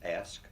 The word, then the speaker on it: ASC: assessment support and counseling that's called ASC but is pronounced ask Center and University School